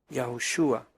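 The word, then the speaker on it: Yahshua: nombre la hei entonces la pronunciación antigua hebrea correcta del nombre que introdujo a nuestro pueblo en la tierra prometida sería yah shua Ese fue el nombre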